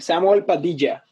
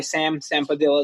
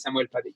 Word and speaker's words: Samuel Padilla: Yes, the pronunciation of my name, Samuel Padilla. That's the Spanish there you pronunciation. Go. Yeah, but I usually go just by Sam Padilla. That works for me too. But the Spanish pronunciation is Samuel Padilla.